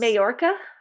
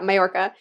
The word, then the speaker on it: Mallorca: awesome ride on a super yacht in, you pronounce it Yes. Majorca? I say Mallorca. Majorca. Okay. I'm not Spanish, so I'm sure I'm not saying it like perfectly, but yeah, Mallorca.